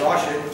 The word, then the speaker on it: Rashid: It's ID, R-A-S-H-I-D, although it's spelled like Rashid, but it's Rashid, Rashid, and put the title down, A Tale of Two Histories, on YouTube.